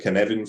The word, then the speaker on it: Cynefin: It's a Welsh word, Cynefin, and it's actually Cynefin. So Cynefin, if you were saying it phonetically.